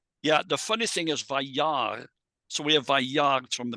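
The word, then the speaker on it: וַיַּרְא: here with the Aleph, an Aleph at the end of a word often quiesces, and that's what happens here, Vayar. And so we don't pronounce the Aleph. It's just written still, but it's not pronounced.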